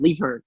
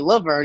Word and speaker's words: Levern: Because it's crazy because my dad will be like, your name's actually pronounced Levern, and then like my mom will call me Laverne, and he'll be okay with it, and it's weird, man.